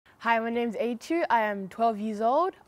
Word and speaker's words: Ayichu: Yeah, so my name's, they pronounce it Ayichu, I eat you. Sometimes I'm just like, no, it's Ayichu, Ayichu. No, it's Ayichu. Like, just sound it out. That's how I say my name.